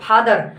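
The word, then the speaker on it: father: देखो, फादर नहीं बोलना है, र अंतिम में नहीं बोलना है, ये साइलेंट रहना चाहिए। शुद्ध इंग्लिश तब हुआ साथियों, बोलने का शुद्ध इंग्लिश जब बोलते हो आप फादर, तो वहाँ पर र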